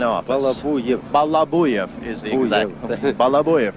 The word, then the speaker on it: Balabuyev: If I may, I would like to introduce this gentleman here, Pyotr Vasilievich Balabayev, who is the chief engineer of the Antonov design office. Balabuyev is the exact. Balabuyev is the pronunciation.